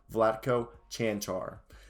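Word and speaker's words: Vlatko Čančar: i said that correctly flat coach chanchar kanshar somebody also told me how to say that correctly vladko chantar and austin rivers tell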